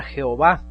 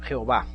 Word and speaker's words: Jehová: un poco áspero y la jota se pronuncia como y entonces en inglés es